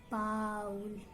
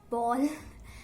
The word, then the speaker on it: bowl: Many of you say it as bowl, ball.